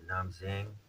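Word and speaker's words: Nam Định: is to go towards Nam Zing um Nam Zing I'm put in the spelling here had to look it up the D is pronounced like a z and different knes so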